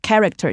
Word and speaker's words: character: 就是叫做 character 角色。 And take note here, ch usually has ch sound, but here it's a hard c.